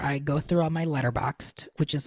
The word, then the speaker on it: Letterboxd: Letterboxd. Oh, and there's no E? No, the E is silent.